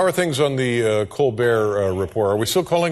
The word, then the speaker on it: Colbert: And how are things on the Colbert report? Are we still calling it the Colbert report? Or yeah, we have not found the pronunciation of that T yet.